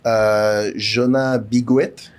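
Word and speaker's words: Jonas Bloquet: Jonas Biguet.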